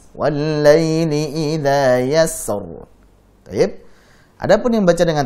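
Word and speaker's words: يسر: Ra sukun sebelumnya fathah itu tebal. Wal-laili idza yassar.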